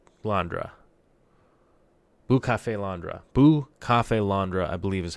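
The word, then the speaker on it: Bucephalandra: kind of just and I keep saying bootiful Andra but I believe it's bucha fail on bra is how it's a it's supposed to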